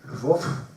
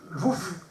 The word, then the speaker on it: Lwów: Après, elle va s'appeler Lwów. Je ne sais pas comment on prononce, mais en polonais. L-W-O. Lwów. Lwów, voilà.